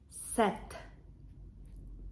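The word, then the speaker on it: sept: Ек читається як S сім сет п не читається сет вісімт аш в французькій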